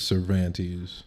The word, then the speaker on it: Cervantes: We do Cervantes. Say it. It's Cervantes. Cervantes. That's how the locals say it. I am a local. That's how I say it. I've lived here for... You don't say Cervantes like 14 years.